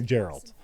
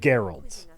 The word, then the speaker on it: Geralt: go no no I want to say Geralt but that's wrong so it's definitely Geralt which is what I've been saying Geralt okay it's very good